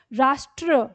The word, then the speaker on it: राष्ट्र: राष्ट्र, र पूरा ले रहे हैं, ट का उच्चारण आधा है।